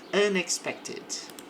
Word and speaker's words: unexpected: Aqui sim. Pronuncio o e por causa do t. Unxected. Unexpected.